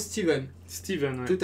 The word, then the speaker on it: Stephen: Et en anglais, ça se prononce Steven.